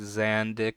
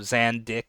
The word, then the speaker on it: Zandik: Because you're supposed to kind of stress the first syllable a bit more. You say like Zandik instead of Zandik.